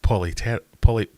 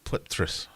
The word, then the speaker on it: Polypterus: So, I used to say polypterus, but it's... You shouldn't pronounce the P's, is that right? It's plypterus, as in, like, pterodactyl. A T after a P is silent.